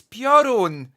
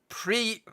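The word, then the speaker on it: Piorun: what the pre the it's purun purun not pre I better come down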